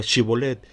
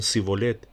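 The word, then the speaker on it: shibboleth: prueba la de pronunciar la palabra chevolet que significa espiga el reto era un método de identificación rápido ya que los de frank no podían pronunciar la palabra en lugar de decir chivo le decían sigo let hermanos hay cosas que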